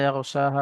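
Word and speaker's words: يَغْشَاهَا: জি ওয়াল্লাইলি ইযা ইয়াগশাহা ওখান থেকে। বিসমিল্লাহির রহমানির রহিম ওয়াল্লাইলি ইজা ইয়াগশাহা ইয়াগো ওয়াস গয়েন উচ্চারণ করার সময় ঠোঁট দুটো গোল হয়ে যাবে।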